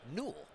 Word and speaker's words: Newell: you're playing pickleball trivia at home how you pronounce Ben's last name is Newell Ben Newell he's here with Yana grechkin Newell